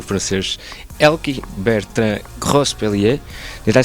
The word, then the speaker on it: Grospellier: Ao meu lado está um colega europeu, o francês ElkY, Bertrand Grospellier.